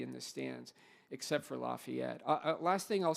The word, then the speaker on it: Lafayette: the Lehi lafette game not leof by the way for any young alumni who are here in the room pronounce all all five syllables please but Lehi Lafayette is as vibrant as